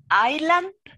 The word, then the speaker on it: island: Is there a rule for a word, for example, island? The spell is Iceland, but the pronunciation is island.